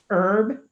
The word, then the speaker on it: herb: H is silent. Like air, or trying to figure out all the other words. Herb.